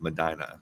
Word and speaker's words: Medina: Medina Ohio sorry and Ohio is actually pronounced Madina I went thrifting there